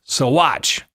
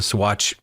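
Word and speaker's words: Saguache: Let me know it's pronounced Swatch. Apparently, the Swatch Indian tribe.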